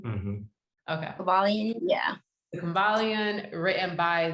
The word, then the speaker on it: Kybalion: Am I pronouncing it correctly? Mm-hmm. Okay. Kybalion, yeah.